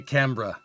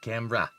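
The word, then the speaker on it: Canberra: See the I think the problem why I can't say it right, Noble, is that I'm not saying it with an Australian accent. So, you got to be like Camra. You say Camra, mate, and then it comes out a lot better.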